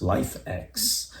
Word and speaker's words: LIFX: a worldclass pair of LFX balls pronounced life X they do everything you'd